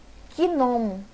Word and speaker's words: gnomo: Por exemplo, gnomo. Gnomo. Tá vendo esse G? Esse G é mudo.